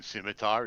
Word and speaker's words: scimitar: By the way, Mythic, the SCI in scimitar is pronounced as I just did.